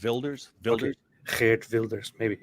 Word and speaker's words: Wilders: I think the W for them is a V, like in German, isn't it? Wilders.